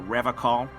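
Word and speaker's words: Revachol: I've been tempted on occasion, but someone has to stay strong for Revacol. He pronounces Revacol with a hard K, unlike other people.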